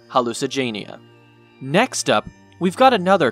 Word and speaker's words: Hallucigenia: Paleozoic Hallucigenia isn't exactly the toughest one to pronounce, considering its name is pretty much hallucinogen and genia combined to make Hallucigenia.